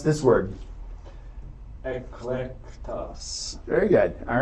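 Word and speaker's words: ἐκλεκτός: Ben, pronounce this word. Eclectos.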